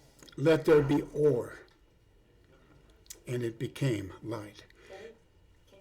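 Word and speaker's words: אור: The word light in Hebrew is or. That's O-H-R. And it is made up of 3 letters, Aleph, Vav, and Resh.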